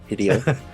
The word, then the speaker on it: Hideo: I know it's supposed to be like rhymes with video. Hideo.